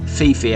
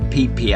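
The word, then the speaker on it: Phi Phi: is peepe Island and it's not pronounced how it's spelled Fifi Island everyone calls it peepe Island it's situated in the anderman sea midway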